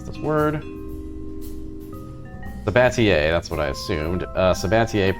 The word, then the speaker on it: Sabatier: Have a chemical plant running I'm gonna look up how to pronounce this word. Sabatier, that's what I assumed.